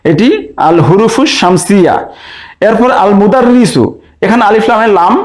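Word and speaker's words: المدرس: এরপর আল মুদাররিসু, এখানে আলিফ লামের লাম উচ্চারণ হচ্ছে, তাহলে আল মুদাররিসুর মিম হচ্ছে হুরুফুস শামসিয়া, হুরুফুল কামারিয়া।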